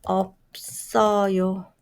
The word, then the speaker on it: 없어요: How do you pronounce it? 없어요. 없어요. 없어요.